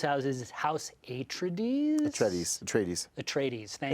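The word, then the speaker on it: Atreides: the in the Herbert books you know the pronunciation right so uh house say it again hekinan no Tres at trades at trades they're the good guys so you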